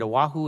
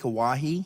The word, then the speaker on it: Oahe: Is it Oahu? Is that how you say it? Oahu? Lake Oahe?